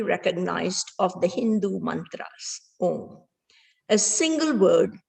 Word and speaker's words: Om: sound with me the word o is spelt a u m represents awake dreaming dees